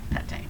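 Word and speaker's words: pâté: pate in your diet pate that's how you say it pet long-term protection it would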